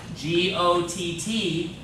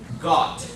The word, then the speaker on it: Gott: lot in the song, G-O-T-T, that's how you say God in German. Gott. Okay? Gott. It's not quite got, but it's not goat, it's Gott.